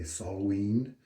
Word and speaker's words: Samhain: Yesterday I was enjoying Autumn Ash from Southern Witchcrafts, and today it's the Samhain. Though correctly pronounced, I believe officially one would say Solween, but I'm just going to say Samhain.